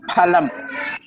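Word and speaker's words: फलम्: There is no letter fa in Sanskrit. Hindi it is there, but not in Sanskrit. So you should say phalam.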